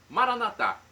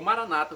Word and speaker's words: Maranatá: E agora eu clamo do aramaico Maranatá, como dizemos nós católicos, ou Maranata, como dizem nossos irmãos separados dos evangélicos ou protestantes. Não importa a pronúncia, o significado é o mesmo.